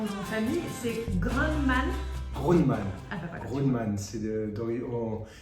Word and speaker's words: Grundmann: Grundmann. Ah bah voilà. Grundmann, ça serait U, il y avait un umlaut sur le U, il n'y a pas de umlaut, donc c'est Grundmann, c'est un nom d'origine allemande, autrichienne pour être exact.